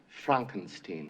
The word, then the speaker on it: Frankenstein: movie anger management that's frankenstein i beg your pardon my name it's pronounced frankenstein mr hilltop would you